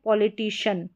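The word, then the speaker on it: politician: अब इसका जो सही उच्चारण है शन करके ही होता है, CIAN का, ठीक है, शियन करके नहीं होता है, प्रोनाउंस कर दिया जाता है, लेकिन सही करेक्ट प्रोनाउंसिएशन शन करके रहता है।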